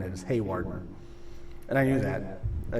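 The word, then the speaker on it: Hawarden: Haywarden, Zach Anderson, telling me that I mispronounced the city of Howarden. It is Haywarden.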